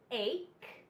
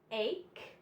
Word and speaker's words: ache: sound but it says it makes the C Sound and the H is silent so let's look at some examples we have ache ache schoolhouse Schoolhouse Christ scheme